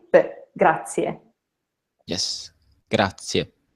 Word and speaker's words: grazie: every sound so here if you see two vowels and that means that you have to pronounce two vowel sounds so how would you